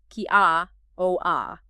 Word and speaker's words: kia ora: Importantly, kiaora is pronounced kia o a.